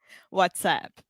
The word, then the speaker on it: WhatsApp: WhatsApp. Yeah. So a good thing here, a good pronunciation tip is what's that is el son de schwa, that really relaxed sound where we just say what's, and then app, that